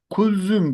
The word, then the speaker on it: Kulzüm: Kulzüm diye okunuyor arkadaşlar.